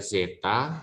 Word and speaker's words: zeta: adalah si ya Jadi ini sih ini adalah Zeta bacanya Yang ini adalah Hai ini tuh Zeta ya